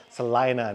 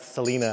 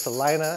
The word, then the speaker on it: Salina: told me the name of the city is pronounced Salina not Selena so it's Salina and that's where we're gonna go now we're